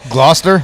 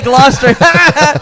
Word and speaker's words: Gloucester: New York uh GL glucer County glester County anyway Gloucester that's what I was going to say Gloucester you know know the chese family from England listens to the show and one time we mispronounced that and they called to correct us we've learned that it is Gloucester how wa this part